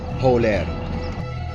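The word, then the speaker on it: Hewlêr: Today I will be showing you different aspects of Erbil, or Holer as it is pronounced in Kurdish.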